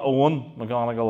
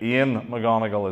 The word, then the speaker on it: Eoin McGonigal: Ian, not Owen McGonagall like in the TV program when they got that wrong. Okay, Ian McGonagall is the pronunciation the family make.